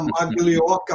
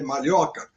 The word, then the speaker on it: Maglioca: Então, eu com esse sobrenome que vocês estão vendo aí, que é italiano, que muita gente ainda fala Maglioca, mas a pronúncia correta é Malhoca, fui chamado de Maloca, Minhoca, e outras coisas mais, além de narigudo e outras coisas.